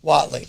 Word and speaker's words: Whatley: intro, and then it's your last name is pronounced Whatley? Whatley.